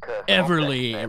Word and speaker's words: Everly: David Everly David who Everly rhymes with Beverly all right let's get